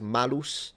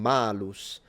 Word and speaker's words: malus: like a double meaning, because malus and malus, they sound almost the same, the only difference being the length of the vowel, and it can mean apple or evil.